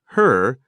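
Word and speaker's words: 呵: and regulate its function the pronunciation of her similar to the English word her the pronunciation is assisted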